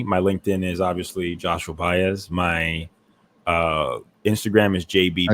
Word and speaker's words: Baez: The biblical and Joshua, the biblical, and Baez. Think of Bay and then add a Z to it.